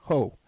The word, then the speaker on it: Hou: His name is Stefan Ho, and it's spelled Steffen, and his last name is spelled Hou.